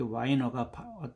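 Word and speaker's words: Weiner: 이게 와이너가 얼빛 뭐 발음을 하면 와이너 wh I N 와이널 그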